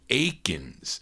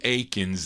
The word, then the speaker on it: Akins: written by Jewel Akins now Jewel or Jewel Aiken or is it Akins on this yeah he's got an s yeah he's got an s on his name it's spelled though a-k-i-n-s but it's uh the same Jewel Aikens that had a number